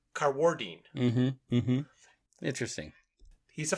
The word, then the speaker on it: Carwardine: name incorrectly okay and I was saying Mark carwardine but he puts the accent on the second syllable so he's carwardine mhm mhm interesting he's